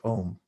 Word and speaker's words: om: here before is om it's spelled aum but uh through sunday or the the way that the vowels are formed and that they morph in sanskrit it just it's it's pronounced as ohm most people write it om so the